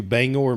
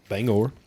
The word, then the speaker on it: Bangor: year for vacation and went to Bangor Maine not Bangor Bangor that's how you say it so went up